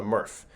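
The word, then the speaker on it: MRF: to what's called a Murph and a Murph uh is a not such a exciting name but uh it rhymes with Smurf which is slightly more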